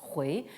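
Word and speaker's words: 回: Là aussi, la prononciation moderne importe peu, ça se prononce hui, ça veut dire revenir.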